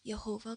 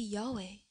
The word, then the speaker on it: Yahweh: And in the Old Testament, they would say Jehovah God. 조금 더 정확한 발음은 야훼입니다. A better pronunciation of this would be Yahweh.